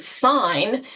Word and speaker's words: sign: Oh, now I'm noticing that G in the word sign." That didn't really make a lot of sense to me until I realized how it was related to signal, you know, which is pronounced.